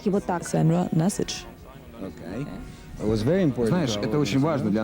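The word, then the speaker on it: Sandra Nasić: Моя мама произносит его так. Sandra Nasich.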